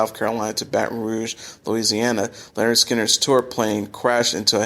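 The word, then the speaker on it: Lynyrd Skynyrd: their hard-driven debut album pronounced Leonard Skinner 1973 which featured one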